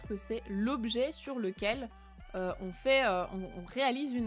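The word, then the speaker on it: を: ce fameux hiragana W quand c'est la particule il se prononce plutôt o on va pas trop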